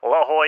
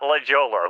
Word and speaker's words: La Jolla: and yes indeed chat I just learned how to pronounce that the right way last week La Jolla not legolar who the hell says La